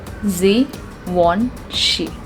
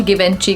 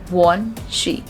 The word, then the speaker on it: Givenchy: Now this is again a French brand, and it deals into luxury perfumes, and the correct pronunciation of this word is Givenchy. Givenchy. It's not at all Givenchy, guys. It's Givenchy.